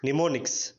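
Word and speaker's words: mnemonics: కానీ single word మాత్రం కనిపించింది, అదేంటంటే నిమోనిక్స్. NMONIC నిమోనిక్స్. ఇక్కడ ఎన్ ముందు M ఉంది, కానీ ఎమ్ని మనం ప్రొనౌన్స్ చేయట.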